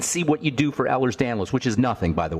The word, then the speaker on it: Ehlers-Danlos: Okay, let's talk about Ehlers-Danlos. First of all, there's no disease called Ehlers-Danlos. It's Ehlers-Danlos. That's spelled Ehlers-Danlos for the listeners.